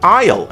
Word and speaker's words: aisle: A is useless also in aisle and aesthetic.